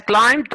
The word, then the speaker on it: climb: sad my ankle has climbed or have climbed the wood which one is correct first cleanse excellent as climb don't pronounce be the be here excellent sad you are